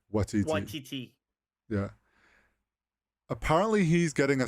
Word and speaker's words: Waititi: No, Okay, no, it's pronounced similar to tiger, so it's like Taika Taika Watiti. Waititi.